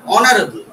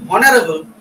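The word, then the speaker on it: honorable: এইচ ও এন ও ইউ আর অনার বা অনারেবল ওটা আমরা যদি উচ্চারণ করি হনারেবল তখন কিন্তু হনারেবল বললে যেমন হোটেল এইচ ও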